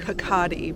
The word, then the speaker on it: Kirkaldy: And that's what's happened here with the grave of David Kirkaldy. Or, if you're Scottish, it's pronounced more like Kirkaldy, but I have rhotic R's and harder L's.